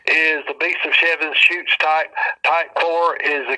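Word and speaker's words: Chutes: of seven shoots and his shoots is spelled c h u Tes and seven shoot is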